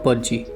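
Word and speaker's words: pudgy: है पजी ठीक है डी गायब कर दो डी साइलेंट हो ग एक तरह से तो प्रोनाउंस करने में कैसे होगा वो होगा पजी ओके तो पजी का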